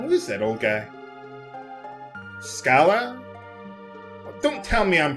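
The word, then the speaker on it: Schala: Scala? Well, don't tell me I'm pronouncing that wrong. Yeah, I know. Some people like to pronounce it Shala.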